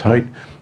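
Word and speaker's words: Haidt: guy's name is Jonathan hight it's spelled H AI D T but it's pronounced height and the book is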